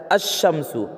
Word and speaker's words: الشمس: اور لام آتے ہیں مگر اس وقت لام کا تلفظ نہیں ہوتا، یعنی لام استعمال میں نہیں آتا، بولنے میں نہیں آتا۔ جیسے آدمی جو پڑھتا ہے تو الشمسو نہیں پڑھتا بلکہ کیا کہتا ہے الشمسو، آگے کیا بولنے ہیں،